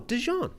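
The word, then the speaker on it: DeJean: Jean whatever he wants no no what it's a spec it's a name it's a name that exists in French we know how it's said right it's long established law of how to say this name no Deon Deon Deon is how you say that name now I don't think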